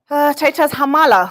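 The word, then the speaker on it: Khamala: on zacchaeus masami and on that pronunciation he tells me it is titus hamala who is defending his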